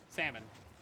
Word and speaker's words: salmon: Salmon. Maybe a little dash in there. Salmon. S A M A N. Maybe because that's that's pretty much how it's said, right?